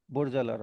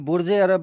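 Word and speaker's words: برج العرب: जो बुर्ज हो गया, बुर्ज अल अरब। हाँ ठीक है। अब वहाँ पे बुर्ज अरब भी बोल सकते हैं, लेकिन वो बुर्ज अरब नहीं बोलते, बुर्ज अल अरब बोलते हैं।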